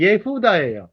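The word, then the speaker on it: יהודה: 왜 렛이 나올까 유다에 유다 예후다 발음이 예후다 예후다 자 이거는 뭐냐면 갈은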